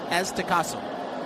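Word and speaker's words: Aztecazo: Is the Azteco? Aztecaso? Aztecaso.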